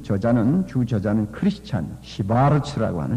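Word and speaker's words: Schwarz: 그리고 그 책을 쓴 저자는 주저자는 크리스찬 시바르츠라고 하는 시바르츠 독일 발음으로 시바르츠라고 하는 사람이 쓴 책입니다.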